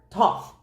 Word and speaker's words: Thoth: But with this Knight of Pentacles, in other words, this is the Thoth card tooth de um deck tarot um tarot deck that that's how you say it.